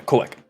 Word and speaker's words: Koak: If you're wanting to, well, the pronunciation not be fully perfect because I use Skyrim Draconic for my language translations.